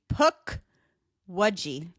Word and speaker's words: Pukwudgie: a paji a paji PUK waji could you spell that for me p p u k w u d g i e like a puck like a hockey puck and then a wedgie a p wedi yeah